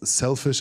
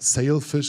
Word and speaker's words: Sailfish: their own operating system yesterday i pronounced it wrong and it out came it's selfish or s it's called sailfish OS but selfishness might be